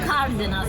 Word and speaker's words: Cardenas: Yeah, actually Cardenas. That's the right. Cardenas with the R. You roll your R's. You said that in your song, no?